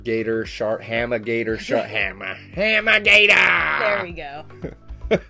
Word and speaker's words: Hammah Gatah: Hammah Gatah!